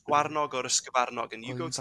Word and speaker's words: sgyfarnog: So a hare in Welsh is a sgyfarnog, or as some people pronounce it, sgwarnog, right?